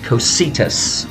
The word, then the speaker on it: Cocytus: It's invoked Cocytus, I believe is the correct pronunciation.